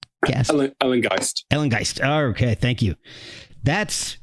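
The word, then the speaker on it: Ellengæst: I'm going to pronounce this wrong. Ellengeist. Ellengeist.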